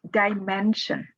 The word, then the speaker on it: dimension: appear in the video the first one is dimension the stress is on the syllable right before shin or jin television international next capability